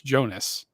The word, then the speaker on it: Jonas: say it right it's Jonas like it's Jonas it's it's pronounced exactly the way it's spelled so Jonas come from